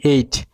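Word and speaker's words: eight: তারপর কি এই ই আই জি এইচ টি এইট এই চারটা বর্ণ এই পরে টি এই কিন্তু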